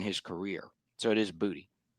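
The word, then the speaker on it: Boutte: So like my my deep cut play of the week is uh Kahan Bouty. Uh it is pronounced bouty, right? Not booty. It's booty.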